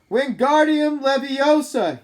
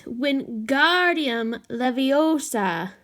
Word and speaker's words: Wingardium Leviosa: the next table wasn't having much more luck Wingardium Leviosa he shouted it's waving his long arms like a windmill you're saying it wrong Harry it's when Guardium Leviosa make the GAR next time and long you